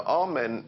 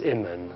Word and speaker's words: Amun: Now, Amen is the pronunciation that the Hebrews give it, and some scholars agree to use that pronunciation. Amun is the pronunciation given to it by one of the old European scholars, Plutarch. In the language of Kemet, the word for hidden is Imen, or Amun is the way that we put it in English.